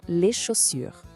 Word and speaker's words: chaussures: E outra dica importante, o S no final da palavra, no plural, a gente geralmente não pronuncia. Então não é chaussures, é só les chaussures.